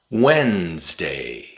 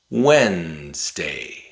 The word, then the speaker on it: Wednesday: Wednesday Wednesday There's two D's in Wednesday. The first D is silent. It doesn't make a sound. Wednesday handsome handsome Now sometimes we replace the letter D with a glotal stop.